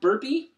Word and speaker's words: Burpee: twitter it's just burpee one giant name word um and that's b-r-a-n-d-o-n-b-u-r--e-e yes it is pronounced burpee uh two bodily functions and one last name burp and so i got that